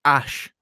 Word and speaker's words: Æ: the letter x and the a is pronounced ash and then a12 is